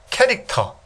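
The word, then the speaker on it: char: 문자형에는 캐릭터. 요 캐릭터라고 읽어요. 요렇게 요런 형들이 있습니다.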